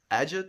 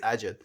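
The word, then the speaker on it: agate: a piece of uh is that how you say it agit i think it's agit a a-g-a-t-e i think it's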